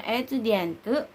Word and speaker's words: étudiant: Untuk female dibacanya étudiante, dan untuk female dan untuk male-nya dibaca étudiant.